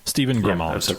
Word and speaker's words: Stephen Grimald: Stephen Grimald, right? Am I mispronouncing that? Mm-hmm. That's right.